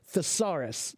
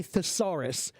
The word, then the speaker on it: thesaurus: so what is a thesaurus it sounds like a dinosaur you know like Tyrannosaurus Rex right thesaurus right it's not